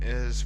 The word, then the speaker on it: hay: So it has 2 important functions and uses. One is to show the existence of something. It usually uses the impersonal form of I, which is spelled Hay, which means there is or there are.